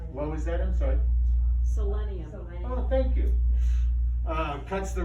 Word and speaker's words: selenium: It's rich in minerals called selenum. That's probably not how you say it, but we're gonna go with that. Cuts the risk, what was that, I'm sorry? Selenium.